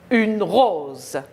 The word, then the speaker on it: rose: Entre les deux, le S se prononce Z. Une rose.